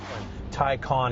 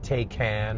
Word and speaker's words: Taycan: Taycan is how you say it, by the way. It's not Taycan, or goes along with